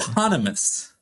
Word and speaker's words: eponymous: Eponymous. Eponymous. There we go. There we go. What an indictment of my perspicacity or pronunciation.